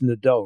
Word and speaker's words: Nadeau: And, I found the one part of the book interesting when it's Nadeau, right? Is that how you pronounce his last name? That's right. Okay.